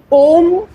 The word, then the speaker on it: ओम: हमेशा स्ट्रेट नेक स्ट्रेट ओम तीन वर्ड से बना हुआ है आ उ और मा जब आप उच्चारण करेंगे तो आ पेट से आवाज आएगी।